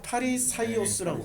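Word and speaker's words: Φαρισαῖος: 파리사이오스라고 그러죠. 파리사이오스. 파리사이오스라고 그러죠. 아. 헬라어 발음만 해도 예. 파리사이오스예요. 아, 원래 성경에 쓰여진 말 그대로는 파리사이오스예요.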